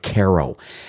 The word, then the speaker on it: Carro: And there's also another company called Caro, and that's spelled Carro.